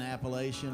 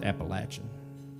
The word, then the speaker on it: Appalachian: Kind of right smack dab in Appalachian, right smack dab in the middle of the It's Appalachian.